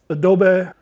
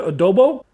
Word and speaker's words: adobo: from hatch and then some goya adobe how you say it baby oh i'm sorry goya adobo now we're going to